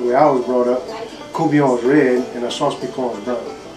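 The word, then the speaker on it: courtbouillon: No, we just said we're going to cook a courbouillon. A courbouillon? A courbouillon. And how do you spell that?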